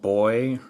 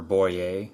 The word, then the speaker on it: Boye: And then Boye or Boye, it's spelled B-O-Y-E, is typically the brand that has this type of crochet head on their hook.